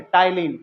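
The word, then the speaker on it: ptyalin: या आपको ऑप्शन में दे देगा कि सलाइवरी एमिलेज का ऑफिशियल साइंटिफिक नेम क्या है, तो ये है, क्या है, पी साइलेंट है, टाइलिन।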